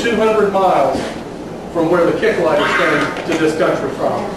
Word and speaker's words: Kicklighter: spell it today is is spelled this way but it's pronounced kick lighter maybe kick a lighter but it's pronounced basically